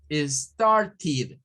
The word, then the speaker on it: started: Pero para este tipo de verbos se debe de pronunciar como una id. Started. O sea, lo que les quiero decir es que eso no se dice started. No se lee como ted. Se lee como tid.